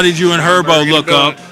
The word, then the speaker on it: Herbo: How did you and Herbo look up? Herbo. The H is silent.